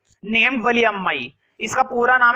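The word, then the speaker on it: Valliammai: इसका पूरा नाम था वली अम्मा। ठीक है, लास्ट में जो आई है ना वो साइलेंट है, वली अम्मा पढ़ते हैं इसको, लेकिन मैं शॉर्ट में क्या बोलूंगा, वली।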